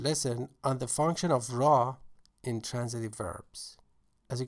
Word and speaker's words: را: In spoken Farsi, ra sometimes, most of the time actually, changes to ro in pronunciation, or o for ease of pronunciation.